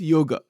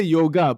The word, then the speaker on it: yoga: actively following one predominant yoga and the word yoga we say yoga but the word is actually yog it is not yoga that's another mispronunciation it is yog but